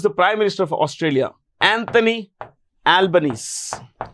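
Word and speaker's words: Albanese: yeah who is the Prime Minister of Australia Anthony albanes Anthony albanesi that's the way it's pronounced his name is pronounced Anthony Albany okay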